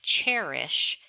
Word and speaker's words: Chairish: Abigail mentioned selling on Cherish, which is spelled Chairish.